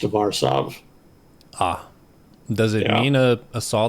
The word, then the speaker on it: Warsaw: I was very sad to find that's actually the totally incorrect pronunciation. It is actually pronounced Warsaw.